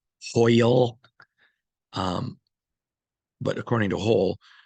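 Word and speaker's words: Hoyle: when you play cards called hole or hoil some people call hoil I'm trying to pronounce it better hoil um but according to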